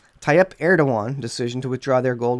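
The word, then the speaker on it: Erdoğan: are doyon heard again what is it air don't want and that's the way you pronounce it tie up air to one decision to withdraw their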